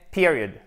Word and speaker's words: period: Non, le point pour la ponctuation, c'est period. Period, ok? Period, accent tonique. Attendez, je vais prendre mon marqueur rouge. Accent tonique sur la première syllabe avec un i court.